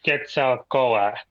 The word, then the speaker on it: Quetzalcoatl: Quetzalcoatl or Codal. Which one was it? It's Codal, right? Quetzalcoatl. Actually, it's Quetzalcoatl. The L is silent.